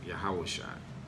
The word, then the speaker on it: Yahushua: unto you, that Hamashiach Yahushua, where it says Lord Jesus. Okay? That's the pronunciation of the Savior's name in Hebrew, Yahushua.